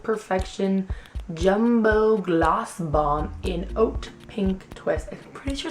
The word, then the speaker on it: Haute: It is the CoverGirl Lip Perfection Jumbo Gloss Bomb in Oat Pink Twist. I'm pretty sure it's supposed to be hot pink twist, but it's spelled like H-A-U-T-E, like oat, like haute couture.